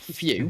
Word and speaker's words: Fu: How dare you pronounce Fu correctly? What, Few? Yeah, how it's supposed to be pronounced. Fuck that.